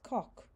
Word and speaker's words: coq: Et un petit coq j'appelle Minet. And you can hear where I've connected the que onto the end of the word co. So it's coq.